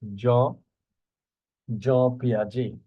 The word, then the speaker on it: Jean Piaget: And here, here you see that is the pronunciation of this Swiss psychologist, Jean Piaget.